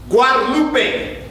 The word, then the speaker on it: Guadalupe: Lupe look at look at you and it's pronounced Guadalupe stop let America teach you our best as